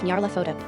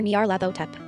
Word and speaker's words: Nyarlathotep: There's no official way to pronounce that name since it's a made-up nonsense word, but I prefer Nyarlathotep. Whatever, say it however you want to say it, and don't feel embarrassed.